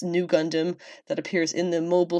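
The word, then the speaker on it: Nu Gundam: heavily based on Amur arrays RX 93v Gundam pronounced new Gundam that appears in the Mobile Suit Gundam Char's counter-attack film debuted in fukuoka's mitsui shopping park lalaport in 2022.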